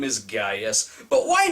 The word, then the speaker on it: Gaius: Why is everyone referring to him as Caius when his name in reality was Gaius? They even go so far as to spell it with a fucking C. When you look at the behind-the-scenes footage for the film, the actors correctly pronounce it as Gaius, as in this pre-dubbed clip.